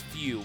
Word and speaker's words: Fu: and by the way I'm gonna call him pew instead of foo because the way that they pronounce it is it's few but spell foo but anyways there you